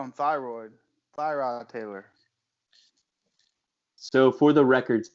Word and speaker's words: Tyrod Taylor: You're just like, that's Tyrone.